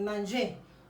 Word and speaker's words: manger: En espagnol es comer y en francés es manger. Donc, je dis manger. Y pronuncio hasta la E.